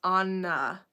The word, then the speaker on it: Anna: But I mean, my mom really likes to stress that it's not even just Anna, it's Anna. Why else would it be two N's if you're not going to pronounce both of them?